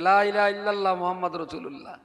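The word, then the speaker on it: لا إله إلا الله محمد رسول الله: মক্তবে পড়ে মাত্র 30-40টা বাচ্চা, বাকি 550 বাচ্চা লা ইলাহা ইল্লাল্লাহ মুহাম্মাদুর রাসূলুল্লাহ এই কলমাটা শুদ্ধভাবে কোথায় পড়তে শিখবে?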